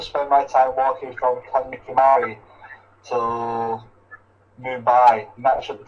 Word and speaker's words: Kanyakumari: the pronunciation to be honest how do I pronounce it is it it's Kya Kumari Kan Kumari okay thank you for that okay so I'm G to spend my time walking from Kan Kumari till Moon by that should take around three